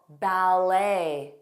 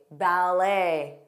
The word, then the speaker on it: ballet: There are also common French-derived words that we use in English where the T at the end is silent. For example, ballet, a ballet, buffet, bouquet, debut, bu, debut, gourmet.